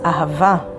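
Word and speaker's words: אהבה: language no it's not money neither power it's ava which means love and it's spelled with alef hey the next letter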